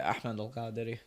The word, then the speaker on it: Ahmed: You could pronounce it Ahmedi.